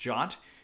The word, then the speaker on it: JWT: the Django REST Framework JOT, or JWT. It's pronounced JOT.